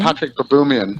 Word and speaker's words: Baboumian: Patrick Baboumian. Baboumian.